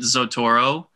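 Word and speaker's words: Xotoro: this uh uh habit x toro is that it no it's just well it's it's so it's next oh it's x-o-t-o-r-o but it's i i pronounce it zotoro yeah because there's a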